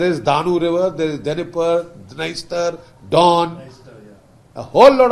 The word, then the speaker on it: Dnieper: अच्छा, ये Dnieper river है, Dnieper is pronounced Dnieper, D silent, so it's pronounced like this.